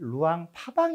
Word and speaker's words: 루앙프라방: 할 수가 있겠습니다 또 라오스 사람들은 루앙프라방 을 의왕 하방 이라고 발음을 합니다 으앙 이라고 하는 것은